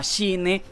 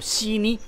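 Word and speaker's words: Shenhe: También van a incluir, pues obviamente, el personaje que ya se sabe que viene, se llama Shine o Shini, como quieran pronunciarlo. Ambas dos, como dicen por allí, están bien pronunciadas.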